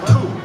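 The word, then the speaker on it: 兔: in Mandarin rabbit pronounced two has the same pronunciation as journey to except we have different tones in that sense I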